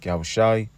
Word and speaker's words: Yahawah: Yahawah Bahashem Hamashi Malak Yahawah. Yahweh who the world innately calls God Jehovah Yahweh and and every other false incor incorrect pronunciation. But the true name of the heavenly father is Yahawah.